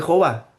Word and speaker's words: Jehová: Hoy en día, si uno va a la parte norte de Israel, algunos pronuncian Yahvé o Yahweh. Más al sur, algunos lo pronuncian como Jehová.